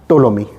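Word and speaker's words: Ptolemy: के दरबार में आया टोलमी इसमें पीस साइलेंट है इसको टोलमी पढ़ते हैं टोलमी किसी के दरबार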